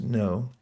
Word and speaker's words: know: Had I known that it came from the word jnana in Sanskrit, that would have explained why KN means, or is pronounced no.